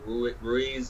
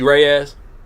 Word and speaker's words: Reyes: Nice Guy with Jesse Ruiz. Is that how you say it? Yeah, Jesse Reyes. Reyes, yeah, my bad.